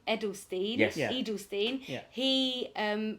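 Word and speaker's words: Eydelshteyn: Edelstein.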